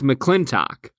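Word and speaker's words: McLintock!: It's McClintock.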